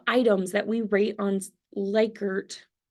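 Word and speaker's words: Likert: that we rate on ler it's actually pronounced licker but nobody likes the way that sounds um lier type scales where I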